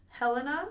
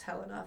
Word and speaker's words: Helena: In 1867, he became a legal resident of Helena, I think is how they technically pronounce it, Montana. I know some people who are named like Helena and stuff, but I think Montana it's pronounced Helena if I remember right.